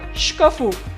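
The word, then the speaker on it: шкафу: Please pay attention that stress also shift from the first vowel to the last. For like va sadu, from sad, a, from the syllable, from the vowel a, it is shifting to the u, and it will be read as sadu together.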